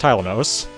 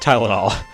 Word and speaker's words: Tylinos: I don't know if I've ever said it in a video in this channel, but it's pronounced Tylinos. Just remember that, it's not Tylenol.